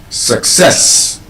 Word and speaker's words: success: What if I told you that the correct pronunciation of that word is actually success? Success. Success, not success. Success.